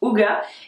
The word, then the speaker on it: Hygge: livre le livre du Houga c'estécrit IG mais ça se prononce houa et il a été